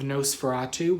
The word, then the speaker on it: Nos4A2: We finished season 1 of Nosferatu, which is spelled Nos4A2.